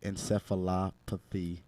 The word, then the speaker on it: encephalopathy: found that his brain had CTE, chronic traumatic encephalopathy. Did I say that right, Mo? Yeah, I believe so. Yeah, that was good. Here, give us the pronunciation one more time. So it's chronic traumatic encephalopathy.